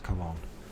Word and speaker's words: Cologne: sorry these words uh got more than two syllables in it I just stumble kog colone cologne of course it's cologne so cologne I don't know why it has